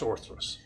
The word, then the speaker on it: orthros: But learning about who the event and God is, that's orthros. So, 2 things. It is spelled O-R-T-H-R. Okay. O-R. Yes, O-R, not O-T.